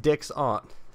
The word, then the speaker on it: Dixon: I do realize that Dixon is pronounced Dick's aunt.